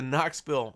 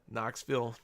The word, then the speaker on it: Knoxville: and these are the Knoxville national spelled with a k Knoxville national spelled with a k get it K in because the K silent oh my gosh guys